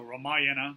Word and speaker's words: Ramayana: The Ramayana, I hear it pronounced also Ramayana, so however you want to pronounce it, is an epic poem of about 20,000 verses.